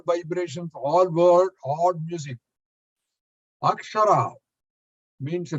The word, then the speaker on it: Akshara: Akshara means a letter in Sanskrit. It's got 3 syllables. A, Sha, and Ra.